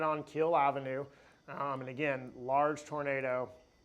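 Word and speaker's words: Kiehl Avenue: And so it's pronounced as Kill Avenue. So. So there's Kill Avenue.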